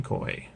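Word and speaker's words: Coye: Canadian server Lee Brown coy I assume it's pronounced coy Lee brown clay he's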